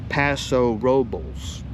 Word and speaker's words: Paso Robles: You'll hear this more often from visitors or people using the Spanish style pronunciation. So if you're in town and want to sound local, go Paso Robels.